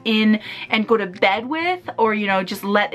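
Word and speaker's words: Ouai: wi uh hair treatment I believe that's how it's pronounced it's like o u a I so I didn't use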